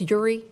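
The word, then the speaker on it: Eure: am I pronouncing this Uri? E-U-R-E? Oh, there we go. Sorry about that. Good evening. My name is Uri.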